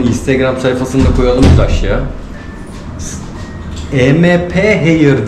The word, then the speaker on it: Emphair: MP Hair diye mi telaffuz ediliyor? MP Hair mı deniyor? Amp Clinics. Amp Clinics'in içerisinde Amp Hair. Amp Hair. Aynen.